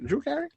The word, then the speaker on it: Drew Carey: Drew Carey?